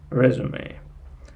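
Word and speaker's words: résumé: uh when you when you write down this word you use this stress sign over the last uh over the last vowel like resum but uh you pronounce it like resume resume and again there are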